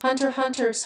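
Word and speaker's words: Hunter x Hunter: Hunter Hunter's Hunter, pronounced Hunter Hunter, starts out with a familiar trope.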